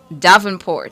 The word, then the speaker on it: Davenport: Davenport. Yeah, like Lindsay, the tennis player.